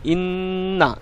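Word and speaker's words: إنّا: দেখুন কিভাবে উচ্চারণ হয়, ইন্না এরকমভাবে, এই যে আমি একটু থামলাম এবং একটি এখানে থেমে উচ্চারণ করলাম, ইন্না ইন্না।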